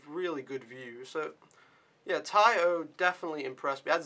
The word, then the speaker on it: Tai O: tai o or te i think it's pronounced tai o but maybe tayo taiyo t-a-i-o but yeah and that